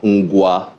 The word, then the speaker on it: Ngwa: The book we have here is A Tale of Two Neighbours, a socio-political history of the Ukwa and Ngwa nations. Did I pronounce those well?